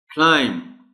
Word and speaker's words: climb: Climb, B is silent اور stress is on L.